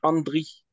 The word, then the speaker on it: Andri: Non, parce qu'en fait, il faut dire Andri.